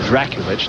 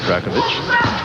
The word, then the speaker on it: Drakulic: It's Drakulic, not Drakovic.